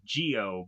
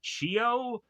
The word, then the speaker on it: Chio: Anyways, so Hioshi goes on to pick up his racer to eventually have Chio or at some points it is to sound like Gio, but it's Chio.